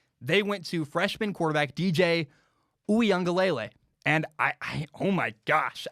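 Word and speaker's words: Uiagalelei: haven't heard the name here's how you say it it's dj oo young galele he's really impressed me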